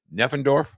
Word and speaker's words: Neffendorf: And Brad, I want to make sure I say Neffendorf. Yep, you said it right.